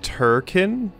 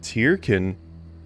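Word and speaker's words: Tirkin: a while also wow it's pronounced turken huh i'm pretty sure the lpr i watched in i mean i thought the game pronounced it tierkin but turken well this is news to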